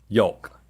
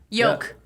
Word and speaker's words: yolk: Yolk. Y-O-K-E. Nobody says Yolk. the L, dude. Carney said the L. Say it again. I say yolk. Yolk. He hits the, yeah. And that rhymes with folk.